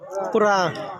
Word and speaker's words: কুরআন: কোরআন না, আসলে এই কিতাবের নামের উচ্চারণটা হলো কোরআন। বলেন সবাই বলেন কোরআন।